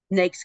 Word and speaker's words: NAICS: I mentioned those numbers earlier in the patents NES codes um it's n AIC CS but we pronounce it NES and they are the the